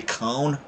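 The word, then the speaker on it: Köln: That's kind of like the Cologne. It's actually supposed to be Cone, or whatever in German, but it's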